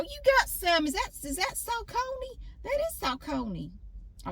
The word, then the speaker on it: Saucony: These Saucony shoes that I'm wearing, Google said it's pronounced Saucony.